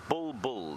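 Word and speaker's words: bulbul: b o o no it's not it's a bull bull not a boo boo b u l b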